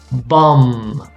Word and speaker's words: bomb: okay also many times the letter b is silent especially when you have this mb at the end so you do not pronounce the b so for example we're going to say bomb climb come run yeah